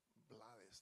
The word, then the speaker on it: Blades: It did become a problem at one point when people thought I was trying to Americanize my name. You know, it's like, oh, he's Blades, now he's Blades. You know, and it's like, no, it's Blades, and I never had a problem in Panama.